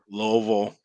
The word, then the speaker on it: Louisville: spell it and like how people pronounce it and Louisville Louisville I mean there's loville everybody that lives lives here pretty much says Louisville even though it ain't spelled nothing like that it's spelled Lewisville you